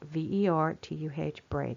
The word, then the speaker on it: vertebrae: these bones are called vertebrae that's how we say ve or tuh braid that's not how it's spelled but if you want